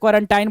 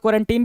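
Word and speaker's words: quarantine: कुछ लोग क्वारंटीन भी बोलते हैं, कुछ लोग क्वारंटाइन बोलते हैं. तो यहीं से आप समझ जाएंगे कि भाई प्रोनाउंसिएशन का बहुत ज़्यादा दिक्कत नहीं है, दोनों सही है. क्वारंटाइन भी ठीक है, क्वारंटीन भी ठीक है.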